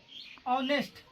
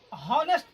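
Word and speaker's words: honest: यहाँ पे ऑनेस्ट मैन, लेकिन कितना लोग हॉनेस्ट पढ़ देता है इसे हॉनेस्ट, इसे हॉनेस्ट नहीं पढ़ेंगे, ये साइलेंट ऑनेस्ट, एच साइलेंट हो जाता है इसलिए ऑनेस्ट हो जाता है, ऑनेस्ट मैन।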